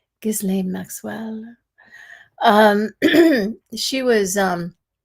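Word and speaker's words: Ghislaine: Um, so, five takeaways from Giz Lane.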